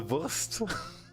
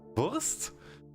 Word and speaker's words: Wurst: So the German word for sausage is Wurst, and there is the sausage and cheese scenario in Germany. Because if you take the German words and pronounce them slightly wrong, it becomes the worst cheese worst case scenario.